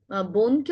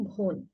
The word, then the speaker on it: বোন: একইভাবে চট্টগ্রামের দিকে বোনকে অনেকে বলেন ভোন। ভোন হবে না, এটা হবে বোন। কেন? কারণ আমরা ব দিয়ে লিখছি, অল্প প্রাণধ্বনি ব দিয়ে লিখছি, তাই হবে বোন।